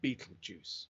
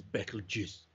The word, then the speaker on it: Betelgeuse: I think you should just launch into astronomy, not worry about pronunciation. But most people call it Betelgeuse, but we know it's not Betelgeuse. The proper way of pronouncing this is Betelgeuse.